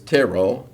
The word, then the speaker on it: Terrell: Not Montigue is actually pronounced Montag in Texas. Uh real is real. Terrell is ter.